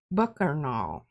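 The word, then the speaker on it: Bookarnal: Bookernal. Bookernal. Bookernal. Bookernal. Yeah. I really need it spelled spell that for me, please.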